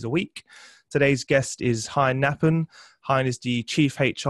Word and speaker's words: Hein Knaapen: So the correct pronunciation is Hein Knaapen.